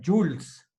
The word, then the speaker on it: joules: acá, pero se pronuncia Jules, ¿sí? Jules, como que hubiéramos la O y la E, Jules. Se escribe Joules, se abrevia como J y se pronuncia Jules.